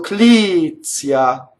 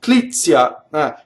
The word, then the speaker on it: Clizia: Now, this name, when you speak, there's a TZ. When you speak it differently. So again, spoken Italian versus lyric Italian. When I speak, I can say Clizia. You see I stop. Clizia. Clizia when I sing. Clizia. So the tia is really late and it's like a semi-vowel.